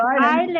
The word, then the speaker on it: island: What is the correct pronunciation of Iceland or island?